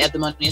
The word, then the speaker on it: Eudaimonia: The Eudaimonia Center, it's EU, even though it's pronounced EV, but it's Eudaimonia Center.